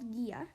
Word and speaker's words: Ghia: just go to drink Gia on Instagram and and Gia is spelled g h i a drink GIA one word